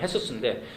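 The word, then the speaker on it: Jesús: 지저스의 발음이 헤수스인데, 헤수스의 엄마가 저한테 오더니 저희 교회 제인이 아프잖아요.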